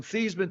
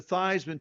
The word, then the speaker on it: Theismann: think by just simply changing the pronunciation of your last name from Thesman to Thyman to rhyme with Heisman, we can get you that trophy.